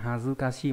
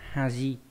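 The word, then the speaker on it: 恥: Thế nhưng mà nó đọc là Hazukashi trong trường hợp này thôi, còn khi mà đứng một mình như thế này nó sẽ không đọc là Hazukashi mà đọc là Haji, đúng là hai.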